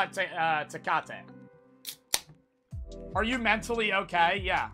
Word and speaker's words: Tecate: Tecate Tecate yes no yes Tecate it's not takati takati is wrong day I don't think it's takade Tech eight it's not Tech eight to Kate to Kate